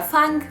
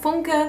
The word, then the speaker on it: Funke: Then I also finished the Inkwell trilogy by, as you might say, Cornelia Funk, but the German way to pronounce it would be Cornelia Funke, which definitely sounds weird if you say the English title and then the German author, but whatever.